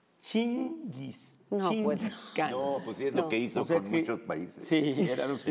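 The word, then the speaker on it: Chinggis: no sé bien pero creo que en mongol se pronuncia chingis pa sí era lo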